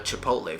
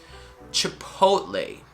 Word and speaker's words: chipotle: restaurant and uh chipotle first of all it's a short e sound and then a very soft t going into lay the end is a hey hey you saw me on the street hey right chipotle chipotle chipotle let's